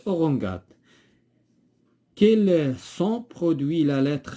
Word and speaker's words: orangeade: légumes légumes ici orangeade orangeade orangeade لو أنه ما كانتش il se prononce orangade.